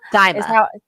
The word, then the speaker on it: Daima: Is it Daima? Daima. Thank you. Yes. If we ever mispronounce things on the show, we're doing it with our best intentions.